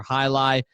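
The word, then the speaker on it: jai alai: You spell that J-A-I. That's for High Lie.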